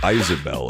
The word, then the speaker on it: Isabelle: It's pronounced Isabelle, and the most lovable villager is Wallace.